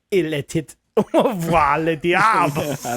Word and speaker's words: était: I believe it's actually called Il était voir le diable.